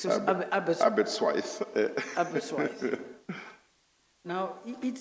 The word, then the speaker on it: Aberystwyth: The subject matter is Daughter's Study 2015 University of, how do you pronounce that name? Aberystwyth. Aberystwyth.